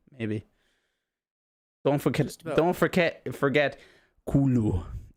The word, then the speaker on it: Cthulhu: It's not Cthulhu. It's like Cthulhu or some shit. What is it? Norse isn't the same. Yeah, apparently it's pronounced Cthulhu in English, but in the actual language of Cthulhu, it's something like Cthulhu.